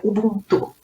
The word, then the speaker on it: Ubuntu: A pronúncia correta é Ubuntu.